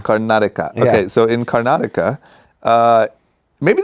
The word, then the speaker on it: Karnataka: okay next up what's the how do you pronounce the city where your parents are from it's a state it's called Karnataka Karnataka okay so in Karnataka maybe this is where